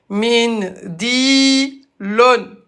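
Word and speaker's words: منديل: Et à l'arrêt, on a l'em. Avec Dammatan, on va le prononcer comme s'il y avait un soukoun. On le prononce, mais on l'écrit pas. Ça s'écrit comme ça, mais on le prononce comme s'il y avait un soukoun. Donc ça devient... Voilà, wa alaykoum salam tout le monde. Voilà, Halima. Mindil. Vous voyez, l'âme avec soukoun.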